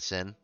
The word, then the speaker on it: Syn: And points at Syn. It's Syn. I'm sorry? It's Syn is my name. Like what you're not supposed to do in the church? Well, no, it's spelled with a Y, not an I.